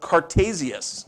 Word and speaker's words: Cartesius: his name is more cartesius okay that's the way it's pronounced in Latin and that's where the